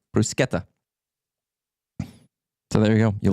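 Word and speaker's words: bruschetta: is is phenomenal uh Bronco Nick brusketta is pronounced one way in Italy it's a hard sea like a k brusketta so there you go you learned that there's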